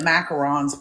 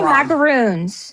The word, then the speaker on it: macaron: How do you say it though? I say macaroons. Macaroons are the puffy coconut cookies. Macarons. Yeah. So, it's two separate things.